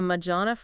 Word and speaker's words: Majorana: what is it, a Majorana fermion? Yeah, a Majorana fermion. I'm not even sure I'm pronouncing that right.